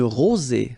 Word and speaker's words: rosée: Une rosée, final E not pronounced.